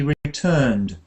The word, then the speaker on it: returned: it yeah but uh we don't do the ID ending on this one we say he returned returned returned earned like earned he returned he returned